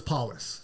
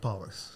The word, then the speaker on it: Paullus: okay everyone does okay even though it's it's as fairly phonetic is I don't know so it's paus paus yeah if you